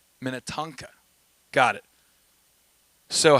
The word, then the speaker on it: Minnetonka: Lake Minnotonka. Did I say it right? Help. Minnetonka.